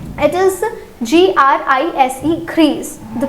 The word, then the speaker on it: gris: So it is G-R-I-S gris. It is G-R-I-S-E gris. The pronunciation will again change here.